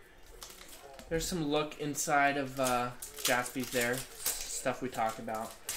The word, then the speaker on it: Jaspy: But it would be Spee. Everyone would say, oh, Spy. But no, it's not like that. It's Spee. Or Jaspy. So. There's some look inside of Jaspy's there.